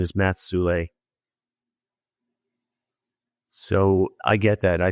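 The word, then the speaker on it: Soule: Do you know how you spell that last name? Yeah, Sule, S-O-U-L-E.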